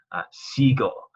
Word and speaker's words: sigo: Sigo, it takes out the U to maintain that hard G sound.